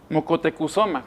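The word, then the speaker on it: Motecuhzoma: los chismes a Moctezuma mocotecosoma que es el verdadero la verdadera pronunciación Miguel de León Portilla en la visión de los vencidos Pues aquí narra esta confesión de moctez de Moctezuma en la que él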